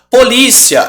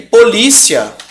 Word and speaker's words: polícia: ia vamos anotar aqui onde está a sílaba tônica ó o Policía certo tá aqui e polícia polícia né é uma paroxítona terminada em ditongo crescente B e agora